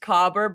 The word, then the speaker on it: caber: the way um my research is titled it's pronounced cober but I'm gonna preface something in the second